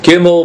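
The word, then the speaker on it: גימל: And the the letter gimble is gimmel. Gimmel raid gimmel Dallas lame.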